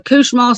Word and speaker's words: Cauchemar: yes, it's called the Couchemont, spelled Cauchemar.